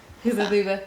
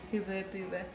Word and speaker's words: Hubba Bubba: Hubba bubba. Hubba bubba. Or if you're German, Hubba bubba. Hubba booba. Yeah, apparently that's how you pronounce it in German. Hubba booba.